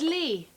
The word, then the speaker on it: Lea: what's your name young lady my name it's lee ah miss l-e-a lee you don't spell it like that of course you do l-e-a-ly